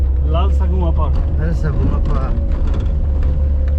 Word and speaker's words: Lalsavunga: ठीक है भैया, लाल सगुआ पार्क बोल दीजिए आप थोड़ा प्रोनाउंसिएशन। लाल सगुआ पार्क।